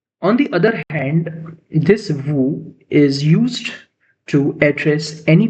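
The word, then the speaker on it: vous: Okay, we have next pronoun, that is vu. We have next pronunciation, that is vu. Vu means you.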